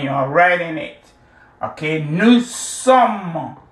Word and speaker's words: nous sommes: Okay, nous sommes. The S is silent. Just like the T here is silent.